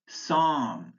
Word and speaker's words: psalm: Words with a silent L, calf, calm, chalk, could, folk, half, Lincoln, palm, psalm, should, talk, walk, would, yoke.